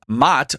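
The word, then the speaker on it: Maat: violence and this was in direct opposition to mat it's spelled m a a t which was order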